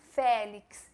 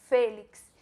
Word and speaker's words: Félix: Félix, e a pronúncia do E de novo, E fechado, não é Félix, é Félix.